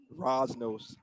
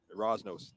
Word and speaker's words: Rosnos: Rosnos, like Bosworth. Am I getting that right? Rosnos.